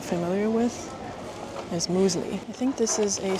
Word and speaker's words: mysli: Muesli in Finnish is muesli, which is spelled a little bit different.